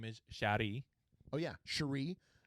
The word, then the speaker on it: Cherie: Cherie. Some in some areas, they might pronounce that as Cherry. It sounds like cherry.